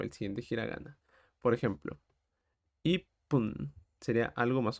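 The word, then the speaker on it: 一分: sería tenemos I pun la tsu chiquitita representa vocalmente un espacio antes del siguiente carácter del siguiente gir gana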